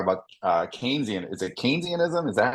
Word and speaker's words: Keynesianism: how you say it that's one of the ways you know he was British so there I think I think in Britain they say keynesianism I think in the US we say keynesianism it's fine it's all